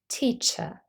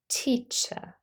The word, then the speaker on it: teacher: following so we have a different pronunciation for rotic and non- rotic speakers in British English that is non rotic pronunciation we say teacher teacher the last sound in the word is a short schah the central vowel sound but in American English